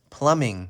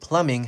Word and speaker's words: plumbing: is you deliver food so this is a plumbing service this is a strange word plumbing so you see that the word plumbing has two letter B in it but the